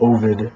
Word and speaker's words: Ovid: I've been reading a lot of Ovid, or most people say his name is Ovid, but I like the pronunciation Ovid, kind of like Odin, but instead Latin pronunciation instead of Old Norse pronunciation.